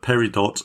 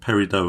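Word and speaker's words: peridot: I can imagine lots of our listeners are all raging now because they say perid dot but per dot and perido are both allowable pronunciations in British English despite when you go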